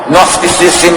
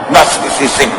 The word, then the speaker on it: Gnosticism: Ang pagmamasama sa sayaw, sa sarap, pagpapasarap, pag-enjoy, Gnosticism yan. At pag-uusapan natin mamaya yan, napakahirap i-spell yan at i-pronounce the word na yan. Gnosticism.